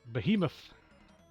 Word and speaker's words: Behemoth: a mean b off I need to stop pronouncing it incorrectly Behemoth is what I should be saying crit yes defeated the